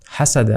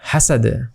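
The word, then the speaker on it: حَسَد: আর এখানে টান হবে হাসাদ লাস্টে আরেকটা দাল এসেছে অর্থাৎ এটা কলকলা করে পড়তে হবে ধাক্কা দিয়ে পড়তে হবে হাসাদ হাসাদ হাসাদ হাসাদ ওকে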